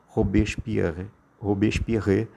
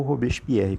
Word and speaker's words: Robespierre: este homem aí chamado robert píer ob espirre ou robespierre como bons pronunciam o nome dele na no